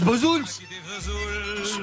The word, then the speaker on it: Bozouls: Et à l'enregistrement, Marcel Azola, celui qui joue de l'accordéon, lui dit « Mais non, Jacques, ça se prononce Bozouls ».